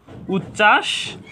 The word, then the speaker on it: উচ্ছ্বাস: পারি যে বানানগত দিকে যুক্ত ব্যঞ্জন বর্ণের সাথে বফল সংযুক্ত হলে সে বফলার কোন উচ্চারণ হবে না উচ্ছ্বাস এখানেও বানানগত দিকে যদি